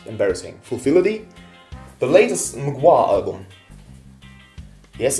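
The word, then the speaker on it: Mgła: The latest Mugwa album. Yes, it's pronounced Mugwa.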